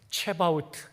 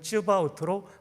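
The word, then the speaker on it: צְבָאוֹת: 오른쪽 앞에 있는 부분이 여호와라는 단어고 뒤에가 만군의라는 히브리어 체바우트 또는 쯔바우트로 발음합니다. 뒤에서부터 번역하니까 만군의 여호와가 되는 거죠. 이렇게 됩니다. 여호와 체바우트.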